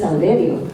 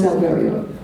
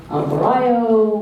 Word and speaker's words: Alverio: But I had a stepfather named Moreno, and I changed it to Rosita Moreno because nobody, for whatever reason, could not pronounce Alverio. Alvarayo, Alvario, Alvarez, you know.